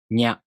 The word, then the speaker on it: nya: To pronounce Nya, you first make the tongue position of the ni consonant. Then the tongue moves into position for the a vowel. Nya.